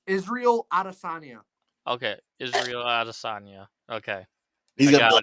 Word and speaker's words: Adesanya: It's Israel Adesanya.